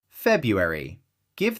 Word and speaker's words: February: February. Give that first R some attention. February.